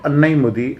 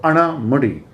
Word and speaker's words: Anamudi: highest peak being, as the Britishers called it, Annaimudi, and it is pronounced, it is also going to be called as Annaimudi, but in general it is going to be called by the name of Anamudi.